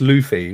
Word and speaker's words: Luffy: else would the road chris says it's pronounced luffy well i can't help that it's got two f's in it i mean come on so luffy but anyway he's a